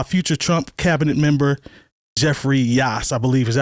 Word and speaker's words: Yass: To gut public education, spearheaded by future Trump cabinet member Jeffrey Yass, I believe. Is that how you say it? Yass.